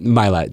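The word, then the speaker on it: Mylett: And excuse me, I said his name wrong. But Ed Millett. Millett, there we go.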